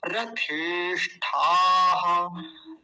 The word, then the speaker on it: रथेष्ठाः: रथेष्ठाः, देखिए मूर्धन्य शकार भी और विसर्ग भी बड़ा ध्यान से समझेंगे, मतलब कोई भी छोटे से छोटा अक्षर छूट ना जाए हमसे, छूटेगा तो उच्चारण गलत हो जाएगा।